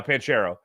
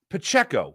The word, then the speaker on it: Pacheco: on the inside run by pent Carol uh panchero and then the other one on the outside run by panchero uh pachero excuse me Pacheco why could I never say his name right